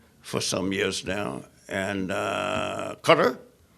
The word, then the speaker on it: Qatar: some years now and Qatar that's the pronunciation of it by the way people say howdy but don't set thing Qatar or no it's a quarter like the insect repellent they're not that I